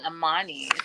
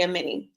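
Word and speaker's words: Amani: I've been saying Ammani. Amen. Well, it's spelled A M A N I. So I think that we made a reasonable mistake. But she did correct Shakina and say Amini.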